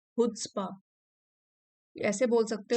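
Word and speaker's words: chutzpah: यहाँ पे सी साइलेंट है। हुड्सपा, ऐसे बोल सकते हो इसको, हुड्सपा।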